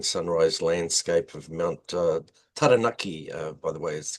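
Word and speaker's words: Taranaki: Well, it's obviously, you know, a beautiful, you know, morning sunrise landscape of Mount uh Tanaki. uh by the way is correct correct pronunciation.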